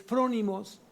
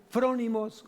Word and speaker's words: frónimos: La palabra prudente en el griego es frónimos, con F, frónimos, acento en la O, en la primera O.